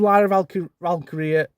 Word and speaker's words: Lyra Valkyria: Okay, I'm going to go with Lyra Valkyria, that's how you say it, I can't ever say it, to retain via interference from Bayley.